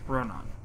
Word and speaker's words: Ronan: Ronan. Like Ronan, except with more ah. Or more like Rohan, except without the extra H, rather. Or the H is in a different place.